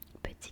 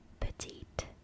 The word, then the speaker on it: petit: Petit gâteau. And for petit, you don't pronounce it petite. It's petit. You don't pronounce the T, the last T, because it's silent.